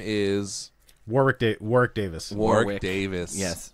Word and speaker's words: Warwick: His name is Warwick Davis. Warwick Davis. Yes, It's he's just in pronounced Warwick though. Not Warwick. No. No. You don't pronounce the second W like a W.